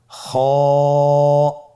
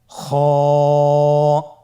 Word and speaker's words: খ: খ হরফটির মাখরাজ হলো কন্ঠনালীর শেষ ভাগ হতে উচ্চারণ করতে হয়। কন্ঠনালীর শেষ ভাগ। আপনারা আমার সাথে বলুন খ আবার বলুন খ মাশআল্লাহ।